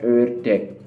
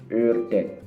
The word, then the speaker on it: ördek: Kemudian ini yang berbeda, ada O tapi titik 2, itu bacanya E. Jadi agak ditekan masuk ke dalam dan biasanya bibir ini maju ke depan. Ini contohnya adalah ördek.